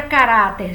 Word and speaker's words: caráter: caráter olha a palavra caráter gente ela tem um r no final o que acontece se eu não acentuar a palavra caráter o r vai atrair a tonicidade e vai ficar até